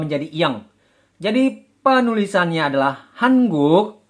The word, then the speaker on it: 한국: Hanguk. Hanguk. Dibaca menjadi, pelafalannya menjadi hangguk. Hangguk. Ini dikarenakan bacim nien bertemu dengan konsonan giok.